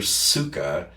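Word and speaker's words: ψυχή: Although most people, if I spelled it and said it in English, they wouldn't hear suka. Psyche, Psyche, which is actually not the pronunciation. It's actually suka.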